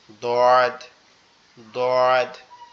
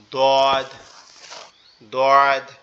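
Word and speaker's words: ض: সোয়াদ, দদ, একটা হচ্ছে নরম আওয়াজে হবে সদ, আরেকটা হবে কি মোটা আওয়াজ দদ, দদ।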